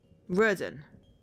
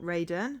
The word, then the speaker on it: Roden: Okay, so we've got Roden, my bat, not Raiden.